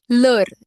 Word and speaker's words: l'heure: L'heure, L apostrophe H-E-U-R-E. This is pronounced together as l'heure means what?